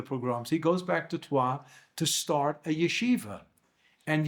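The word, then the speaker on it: Troyes: He's from a city called Tua in uh it's spelled T R O YS on the map of northern France.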